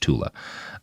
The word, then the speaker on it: Thule: He named the mystical Aryan homeland Tula, or it's spelled Thule, and it's usually said Thule. I think it's actually supposed to be pronounced Tula.